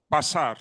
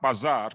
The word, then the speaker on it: Basar: It's not Zanki Bazar, it is Zanki or Zanki Basar. Basar, not Bazar, but of course, an Armenian could misspell it or mispronounce it.